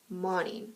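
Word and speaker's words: Moning: known as the fever series by karen marie money that's how you pronounce it but that's what i read um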